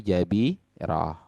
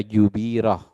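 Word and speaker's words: جبيرة: Ingat jabirah itu fathah jimnya, jangan dibaca jubirah atau dibaca jibirah. Tapi dibacanya apa? Jabirah.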